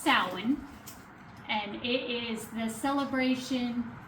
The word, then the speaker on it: Samhain: It looks like Sam Hayne or something like that, but it's pronounced sin and it is the celebration that is the end of summer and the beginning of winter.